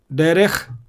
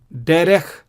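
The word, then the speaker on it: דרך: Second, the shwa is silent when it occurs under the last letter. Derech, melech. Derech, melech.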